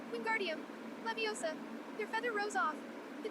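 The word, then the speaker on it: Wingardium Leviosa: wasn't having much warlock queen guardium he shouted waving his long arms like a windmill you're saying it wrong very hard hermione snap it's queen guardium leviosa make the guard nice and long you do it then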